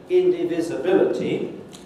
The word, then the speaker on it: indivisibility: You can have more than one secondary stress. If there are several of them, it feels like a rhythm building up to the main stress. So here's this word, indivisibility, a word I'm sure